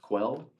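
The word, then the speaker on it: Quelle: that just comes from the German word I think it's called pronounced quell um but it just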